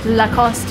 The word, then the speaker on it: Lacoste: Okay, Lacoste if you want to be more French.